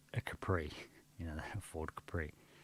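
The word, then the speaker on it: Khepri: Ford Capri but now it's spelled with a k k h e p r i Capri so then Capri also translated as capera or Kappa or Capra or chipri is a Scarab face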